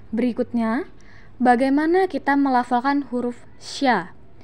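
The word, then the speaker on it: ش: Berikutnya, bagaimana kita melafalkan huruf sya. Huruf sya keluar dengan menyentuhkan tengah lidah dengan langit-langit. Diucapkan mengalir udaranya dan mengalir pula nafasnya. Bahkan ketika melafalkannya, menyebar nafas dan udaranya yang disebut dengan tafashi.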